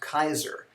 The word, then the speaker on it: Caesar: As examples, we all pronounce this Caesar, but officially in Latin it's supposed to be pronounced Kaiser.